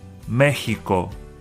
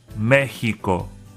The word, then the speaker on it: México: The letter X makes the H sound. México, México, México.